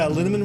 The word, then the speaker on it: Linaman: Z Rebecca Hughes B linaman rhymes with cinnamon Nick Harper Stephanie Hess